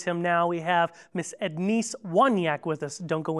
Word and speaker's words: Ednice: and not too long ago, she said, it's Edneese, so glad to have you here, sister.